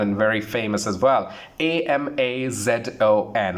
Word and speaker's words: Amazon: Amazon. How do you pronounce that? Of course, we say that Amazon is the correct pronunciation.